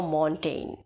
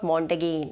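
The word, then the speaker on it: Montaigne: में आता है then it is your मोंटेन मोंटेन इट इज नॉट मगेन आप मगेन नहीं कहेंगे मोंटेन जी साइलेंट यरय नॉर्वे से थे तो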